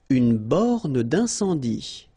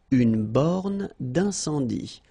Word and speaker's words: borne d'incendie: Une borne d'incendie. Okay, final E here not pronounced, final E here not pronounced. Une borne d'incendie. And then you get the nasal. Un, en. Incendie. Une borne d'incendie.